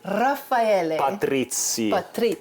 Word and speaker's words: Raffaele Patrizi: Raffaele Patrizi.